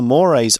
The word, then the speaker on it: mores: the public face very honorable so a social Mor is what is common what is normal at the time now it looks like the word Mo but it's pronounced Mor uh and so to divorce somebody was not